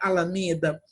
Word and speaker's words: alameda: Vamos falar a palavra alameda, como se a gente estivesse chamando o nome de uma pessoa. Alameda! De novo. Alameda! O me é o mais forte, então é a sílaba tônica da palavra alameda.